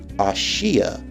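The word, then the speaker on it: Aashia: and how it's spelled in the manga it's actually spelled a-a-s-h-i-a and it's pronounced as ashiya whereas in the anime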